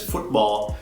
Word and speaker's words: futebol: Em português, a tônica, né, a sílaba forte dessa palavra não está no fut ou no fute, né? Está no ball. Se diz justamente em português futebol.